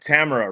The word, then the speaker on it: Tamara: Ta T T T T T T T T T T T T T T T T T T T Tamara rhymes with camera.